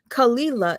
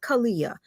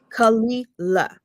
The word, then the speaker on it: Kalila: Kalila is her name, not Kalia. Let's No, get no, that no. clear. Kalila.